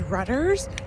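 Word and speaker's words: Reuters: down below i think it was rudders that's how you pronounce it r-e-u-t-e-r-s it was a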